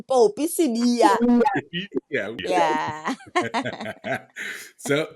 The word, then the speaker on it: Popi Sibiya: Literally, I still pronounce my name Popi Sibiya.